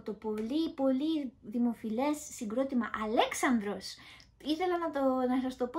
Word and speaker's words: [Alexandros]: Αλέξανδρος.